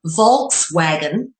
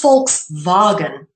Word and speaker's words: Volkswagen: So for example, what some people in English would call a Volkswagen is actually pronounced Volkswagen because the V is pronounced as an F in the German and Dutch tongue.